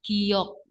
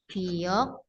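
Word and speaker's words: 기역: Ini nama hurufnya giok. Pengucapannya G atau K. dia kalau di dijadikan apa? Akhiran suku kata dibacanya K.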